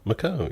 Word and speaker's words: Macau: I always pronounce this one wrong. Macau? Is that? Macau, yeah.